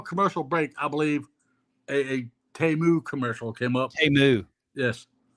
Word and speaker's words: Temu: Everybody knows how to pronounce Temu. Okay, yeah, it's not Temu.